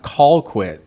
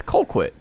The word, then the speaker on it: Colquitt: Because that is pronounced Colquitt, sir. It's Colquitt.